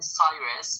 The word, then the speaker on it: Cyrus: English people call him Cyrus but in Persian we call him Kuros. In Persian it is pronounced Kuro but in English you would call them call him Cyrus.